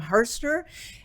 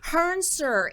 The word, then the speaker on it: Hrncir: um I am introducing you all to Jim hurster help me out there I butchered your name again I'm quite sure Jim I'm sorry sir Hearn sir and it's and it's spelled so lovely but